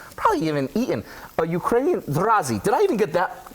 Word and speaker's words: Zrazy: Of people may have never heard of, much less even probably even eaten a Ukrainian Razzi did I even get that pronounce right?